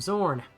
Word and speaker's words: Zorn: the Seattle Seahawks quarterback, his name was Jim Zorn. course, so it's spelled Z-O-R-N, and these guys are spelled X-O-R-N, but whatever.